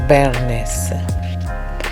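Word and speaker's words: viernes: which is Friday is Bess which is v i e r r n e s but the V is pronounced with a B in Spanish so it's baress but it's the day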